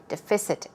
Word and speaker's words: deficit: the stress goes right there on deficit okay deficit deficit so we're talking about a shortfall a